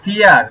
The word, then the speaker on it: vier: তো আমরা কি বলছি যে ফাও জি, তখন শব্দের সাথে ইয়া হবে, এটা ফয়ের মতো উচ্চারণ হবে, ফাও।